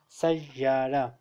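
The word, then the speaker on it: سيارة: For example, sayyara, here I have pronounced ya two times.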